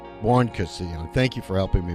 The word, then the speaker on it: Buoncristiani: All right, I've got Buoncristiani, a marketing executive. Did I pronounce it right? Buoncristiani. Buoncristiani.